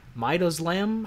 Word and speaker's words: midazolam: midazolam, and she goes, midazolam? How do you pronounce that? And then the teacher goes, midazolam, and she goes, oh, like it's spelled.